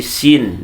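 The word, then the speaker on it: سين: miring bukan miring ya jangan Sinin tapi Sin ya Sin mim Ya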